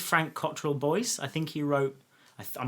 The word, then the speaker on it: Boyce: Boyle. It was Frank Cottrell Boyce. Okay, cool. I just wanted to know I was pronouncing it correctly.